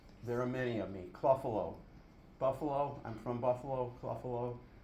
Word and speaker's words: Clough: of those they're they're cluff numbers cluff is my last name c l u g h my relatives pronounce it Ru tough cluff I there's a they're